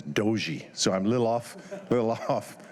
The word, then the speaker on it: Dujie: I practiced your name Dujie a few times, but then right before I came, they said it was Doji.